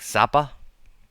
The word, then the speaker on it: Zappa: If you don't know Frank Zappa, how do you say his name anyway? I grew up in Germany. We say Zappa, but that's not how you say it in English.